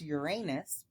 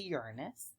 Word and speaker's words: Uranus: A lot of people will pronounce this Uranus, but it's actually Uranus.